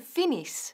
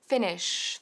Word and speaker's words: finish: Ahora, aquí tenemos el verbo to finish y hay que tener mucho cuidado con el sh del finish, porque muchos lo pronuncian finish, finish, y está fatal. Tenemos que decir finish, fíjate, finish, finish.